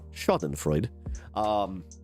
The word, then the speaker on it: Schadenfreude: I have to just do the Webster's dictionary pronunciation. Schadenfreude.